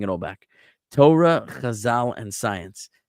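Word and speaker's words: Chazal: all back to Torah Khazal and Science Kazal is spelled C H A Z A L.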